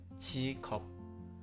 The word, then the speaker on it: 직업: In this case, you link the final consonant 기억 to the next syllable, pronouncing it as 직업.